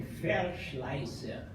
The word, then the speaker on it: Verschleiser: sobrenome Verschleiser. É com V, só que o V em alemão pronuncia como F.